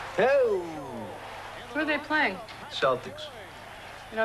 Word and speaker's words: Celtic: Celtics. You know, it's actually pronounced Celtic. What is? Celtic. You telling me the Boston Celtics are actually the Boston Celtics?